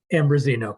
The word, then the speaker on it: Ambrosino: I so move to appoint Robin how do you say her name, Mike? Ambrosino? Ambrosino, correct. Yeah.